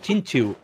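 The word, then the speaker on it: Xingqiu: la llaman ya okay la Q en los nombres estos los pronuncian como una como una Ah no me caí lo mismo con chinkiu no es chinquio es chinchu No quedan más de esta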